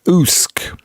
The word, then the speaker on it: Usk: Pronounced Husk. Husk, is that right, Ruben? Is that how Usk is performed? Pronounced? Oost. Pronounced. Usk.